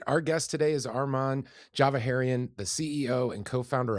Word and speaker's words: Arman: Arman. Thank you. Yeah, Arman's right. Although my uh two best friends from high school still call me Armen, and I let them get away with it.